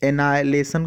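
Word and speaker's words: annihilation: ठीक है, और एनाइलेशन का मतलब, एनाइलेशन, यहाँ पर भी देखिए एच साइलेंट है ना, यहाँ पर एच साइलेंट है, एच को नहीं प्रोनाउंस करते हैं। तो एनिहिलेशन नहीं बल्कि एनाहिलेशन, एच साइलेंट होगा।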